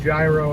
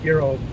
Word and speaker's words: gyro: I know it's pronounced gyro in America, but it's gyro in Greece, where it came from.